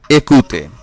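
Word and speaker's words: écouter: তারপরে রয়েছে একুতে। একুতে, এখানেও ওয়েখ আছে, এর উচ্চারণ এ।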